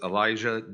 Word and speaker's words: Elisjsha: His name is Elisjsha Dicken, and that is spelled Elisjsha, and he resides in Seymour, Indiana.